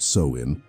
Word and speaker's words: Samhain: That ancient ritual, known as Samhain, pronounced Samhain, would eventually evolve into the celebration we know today.